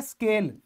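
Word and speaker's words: scale: है ना अपने का उसे बोला जाता है स्केल यहां पर साइलेंट नहीं है भाई ये तो एस बोला जाएगा स्केल हो गया है ना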